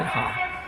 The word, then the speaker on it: Ha: One good thing about her last name is it's pronounced exactly the same in English as it is in Korean, from what I can gather.